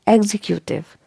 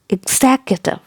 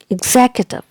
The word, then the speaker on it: executive: word is pronounced like executive executive executive now break it into syllables and the stress is given on the second syllable here so exactly executive executive you got it